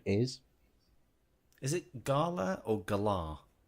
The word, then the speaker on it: Galar: I pronounce it Gala, like Gala Bingo, because Gala Bingo. That's the precise reason that I'm not pronouncing it like that. Gala Bingo, yes, but Gala Bingo exists in the UK, and if it's called the Gala region, I'm calling it the Gala region.